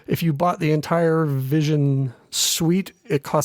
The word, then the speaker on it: VisiOn: with this product called, I think you pronounce it Vision. It's Visi on, like VisiCalc sort of a thing. But if you put the two words together, it's Vision, which I think is